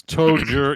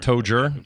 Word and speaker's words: Toger: Well, anyways, it's Toger. Yeah, it's not Todger. Toger.